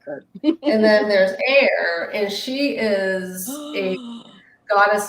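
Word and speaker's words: Aeir: with are Freya and a e i r um it's pronounce air um and I have statues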